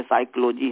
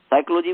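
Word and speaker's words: psychology: अक्षर होगा, उस समय जैसे साइकोलॉजी है, साइकोलॉजी में पी साइलेंट है, वर्तमान में पी साइलेंट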